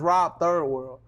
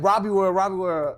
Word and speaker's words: Robiii World: But the thing was, look, the thing was, it's supposed to be pronounced Rob Third World, but people people just said Robbie World, and I used to get mad at it at first.